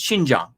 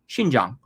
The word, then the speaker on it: Xinjiang: thing voshid you know xinjiang no it's it's xinjiang xinjiang learn to pronounce mandarin juan da idiot learn to pronounce